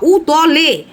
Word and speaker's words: উতলে: ভাতকে বলে উতলে যাওয়া। দুধকে বলে উতলে যাওয়া। উতলে আর তুই বলছি উতরে। উতরে মানে জাম্প করে যাওয়া। উতলানো মানে এরকম ফ্লোইং ভাবে উতলানো। এটাকে বলে উতলানো।